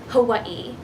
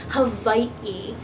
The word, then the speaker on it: Hawaiʻi: an O kina and the best way I could describe it is a glottal stop so when you see